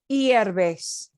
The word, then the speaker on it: hierves: Hierves, and we don't pronounce the H, sino se pronuncia la H.